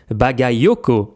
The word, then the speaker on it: Bagayoko: fait le truc de corriger la prononciation à chaque fois dire Bagaoko s'il avait fait ça ça aurait été magnifique.